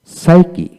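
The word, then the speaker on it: psyche: যেমন ওয়ার্ড এর মধ্যে পি এস, পি এন, পিটি, এমপি পাশাপাশি থাকলে এক্ষেত্রে পি এর উচ্চারণ সাধারণত হয় না। যেমন সাইকি, সাইকি, পি এস ওয়াই সি এইচ সি, সাইকি।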